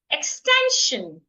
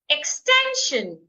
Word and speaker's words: extension: Extension. Extension. I'm stressing the second syllable.